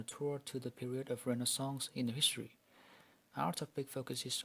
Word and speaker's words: renaissance: The word Renaissance in French means rebirth, pronounced Renaissance.